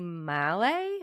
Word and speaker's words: Malle: So her daughter, Chloe Mallet, I believe is how you say her last name, took over for Anna